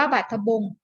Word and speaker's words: บาทบงสุ์: เนี่ย ไม่ ออก เสียง บาทบงสุ์ อ่าน ว่า บาทบงสุ์ สอ เสือ สระ อุ การันต์ จะ ไม่ ออก เสียง นะ คะ ไป ดู